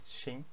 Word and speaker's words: 行: Here this character has two different pronunciation. One of them is xing. Xing means okay or yes. Hang means we use it. Yin hang means bank.